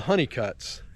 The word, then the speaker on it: Hunnicut: Now there's a funny anecdote here about the road Honeycutt, as it's spelled Hunnicut, and their name has two T's.